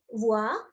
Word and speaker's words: voix: Voix, oiseau, chevaux. That is repeat. So H and X always silent.